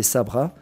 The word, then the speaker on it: Sabra: Ce mot le plus souvent prononcé Sabra, on est venu à